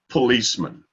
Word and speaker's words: policeman: comes to understanding but as far as the accent goes it's on the second syllable police policeman there was a couple of